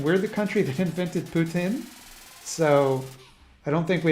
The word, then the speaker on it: poutine: poutine uh i've so i deliberately said putin because i'm told that's the correct way to say it the quebecois way to say it like you i in my day-to-day i say poutine but i thought that